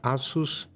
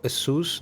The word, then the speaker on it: Asus: Also, from the few cases that we have knowledge, they are from Asus or Asus, depends on how you want to pronounce it.